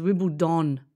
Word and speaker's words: Wimbledon: There's just one of them as Wimbledon, D-O-N, no, not T-O-N.